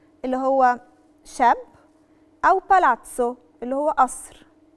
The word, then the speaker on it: palazzo: بس qualche volta si pronuncia ts come ragazzo palazzo. يعني ايه؟ أوقات بننطقها تس زي كلمة راجاتسو اللي هو شاب، أو بالاتسو اللي هو قصر.